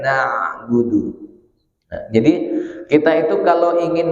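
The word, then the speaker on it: نَعْبُدُ: Kalau na'budu nanti ain enggak, hamzah enggak. Apalagi kalau betul-betul ke hamzah, lebih salah lagi. Maka letakkan di tengah tenggorokan na'budu.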